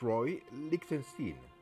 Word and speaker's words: Roy Lichtenstein: rye Lichtenstein no no no it's Roy it's Roy Lichtenstein I see you you must be Igor no it's pronounced Igor but they told me it was